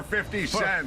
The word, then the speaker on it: 50 Cent: Don, it's 50 cent. Not you keep saying 50 cents. I can't say 50. When I was a lad, you could buy an automobile for 50 cents.